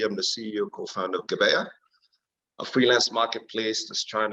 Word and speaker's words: Gebeya: Is it Gebeya? Yes, that's Gebeya, yes.